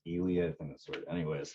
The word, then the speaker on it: Ely: which was 45 minutes away from us called elely Nevada it's it's spelled e ly but it's pronounced elely I think that's word anyways population like what